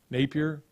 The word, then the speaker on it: Napier: people are going to pronounce it napier my peer not beer napier i'm a saint augustine